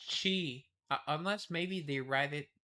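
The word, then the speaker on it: qi: Uh okay, it's it's Chi c h i, but in in China they write it q i. Yep. Okay. And it's pronounced Chi.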